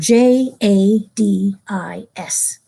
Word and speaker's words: Jadis: people pronounce that Jadis over in Europe some people thought that it sounded like a French word and so they pronounce